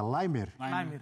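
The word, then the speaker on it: Laimer: Qual é a pronúncia certa? Limer. É austríaco, não é austríaco. Então é limer.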